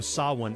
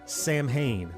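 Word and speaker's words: Samhain: about this episode is the mispronunciation of saan as Sam Hayne a mistake that the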